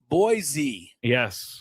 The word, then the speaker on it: Boise: Come come to Boisey. You'll love it. And when you come here, don't forget it's not Boise. Yes.